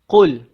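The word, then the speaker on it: قُلْ: akan mulu kenapa dosa levels Bagaimana untuk kita membacanya jadi kita mulakan dengan kulhu allohu ahad Qul Qul huruf k jangan kita baca Qul macam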